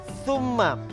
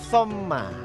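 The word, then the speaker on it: ثُمَّ: Jadi tsumma tadi saya lihat Fatim membacanya somma. Oh beda ya. Jadi mungkin karena grogi dan terlalu cepat jadi kalimatnya harus tumma jadi somma. Coba diulang apa harusnya.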